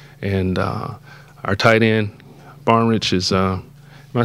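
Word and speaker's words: Barnidge: he'll score it and uh our tight end barnich is uh am I saying it right yeah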